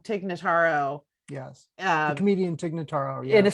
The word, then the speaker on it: Notaro: i'm loving having uh i'm gonna pronounce her name wrong tig dignotaro take nataro yes comedian tignataro in a serious role i